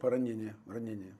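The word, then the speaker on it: поранення: Medals are Poronennya, is it? Poronennya. Yeah, medals are Poronennya from the defense. Poronennya, that's a correct pronunciation.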